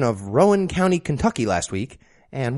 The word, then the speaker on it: Rowan: and has always pronounced Rowan in every example I can find think Rowan Atkinson it's the same name and unless of course